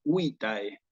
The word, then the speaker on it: vitae: Y es muy importante prestarle atención a este diptongo porque en latín clásico el diptongo lo voy a pronunciar tal cual como se escribe. ¿Eh? Entonces, en este caso, voy a decirlo curriculum vitae, ¿sí? Curriculum vitae.